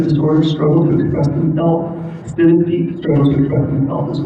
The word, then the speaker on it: synesthete: We had a synesthete, or how you say it, synesthete?